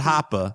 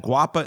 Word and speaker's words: Guapa: me look this up are you sure it's not brazilian and pronounced hapa no yeah it's not it's yeah it's not a rapper it's not hapa which i love no this band is called guapa and they're from i